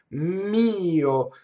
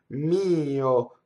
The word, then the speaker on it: mio: Mio, so all of these possessive words, mine, yours, tuo, tua, they have the accent on the first vowel. Mio, mia, okay? So it's actually a two-syllable word technically, right? You need an extra grace note to say it.